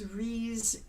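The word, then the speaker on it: Rhys: again here's another name I've been saying wrong forever and he pronounced it himself it's ree Davis because he's a good welchman and so you've got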